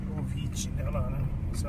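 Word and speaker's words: Vichy: O Avici Ovici, né, lá, né? Essa é a pronúncia correta.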